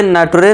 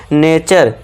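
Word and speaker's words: nature: अब इसे नटरे नहीं पढ़ना है। इसे क्या पढ़ना है? नेचर नेटर भी नहीं करना है। यहां टी यू आर ई का साउंड च करना है।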